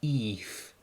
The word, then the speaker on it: if: of the words so let's start with if and we're going to use actually an e sound for this word so it's almost going to be Eve which sung Eve it